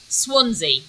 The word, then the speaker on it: Swansea: Is it Swansea? Is that how you say it? Swansea.